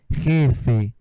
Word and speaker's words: jefe: O J em espanhol tem um som parecido com R, né? Jefe. E a gente entende, né? Quando pronuncia direitinho, jefe.